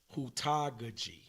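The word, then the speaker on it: heutagogy: It's hudagogy. Yeah, you can pronounce it differently depending on how many times you done said it, depending on what region of the world you in. But for me, if I'm reading it, I read it and I'm pronouncing it hudagogy.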